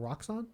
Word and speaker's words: Roxxon: As we've established, how do you pronounce it? Roxxon?